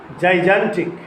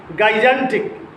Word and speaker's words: gigantic: Gigantic. Not gigantic. Gigantic.